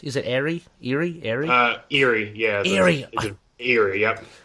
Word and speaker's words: Erie: Am I pronouncing it correct? Is it Erie? Erie?